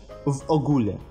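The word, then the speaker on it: w ogóle: Та самая «о» с креской. Читается как «у». «В общем». «В огуле».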